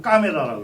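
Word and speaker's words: camera: 원래 까메라라는 게 이 찰칵찰칵 카메라, 스펠링은 똑같지만 이태리에서는 카메라로 까메라라고 그러죠.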